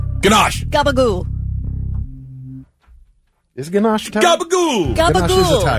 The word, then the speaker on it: gabagool: Okay, is gabagool real? Is gabagool real, and is it Italian? Gnocchi. Hold on. Thinking. Yes, gabagool is real, but it is the Italian-American slang pronunciation for capicolo.